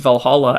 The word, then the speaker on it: Valhall: Neil Price, is that they pronounced Valhalla as Valhall, with no A at the end.